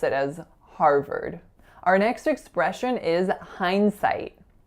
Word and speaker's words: Harvard: really confusing right because there are two vowel sounds and they're different sounds if you look at the spelling they both look like a are so what I hear a lot for this word is har vard RR but in fact we're seeing Harvard so it would make more sense if it was spelt ve R deep but of course it